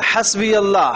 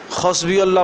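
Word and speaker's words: حسبي الله: ہے ہی نہیں ہے۔ حسبی اللہ ہاں ہے، یہ خسبی اللہ پڑھے گا تو معنی ہی کچھ اور بن جائے گا۔ لا الہ الا ہو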